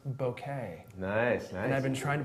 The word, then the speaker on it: bokeh: And I learned that it's pronounced bokeh.